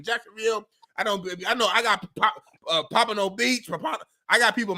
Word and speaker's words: Pompano: How you say it? Pompano. I said it right the first time.